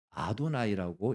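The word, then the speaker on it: אֲדֹנָי: 읽어야 되는데 불경스럽게 하나님의 이름을 입에다가 붙일 수가 없어서 이들이 쓰기는 이의라고 쓰면서 읽기를 어떻게 읽었냐면 아도나이라고 읽었습니다.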